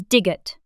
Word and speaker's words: 디귿: 디귿, The name of this consonant is digeut. Digeut is the same D sound you make when you pronounce dog.